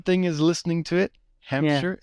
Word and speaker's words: Hampshire: is listening to it hamster is not that difficult when you listen to the you know is this two syllables Hampshire yeah but when you